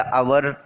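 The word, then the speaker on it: hour: तो कंफ्यूज मत होइए, आर या अवर जो आप पढ़ते हैं वो करेक्ट है ना। तो आवर sound is also with vowel and ही is silent letter in आवर word.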